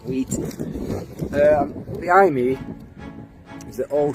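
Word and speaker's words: Weighton: Hello, we're in the small market town of Market Wheaton, or Wheaton, I think it's called pronounced Wheaton.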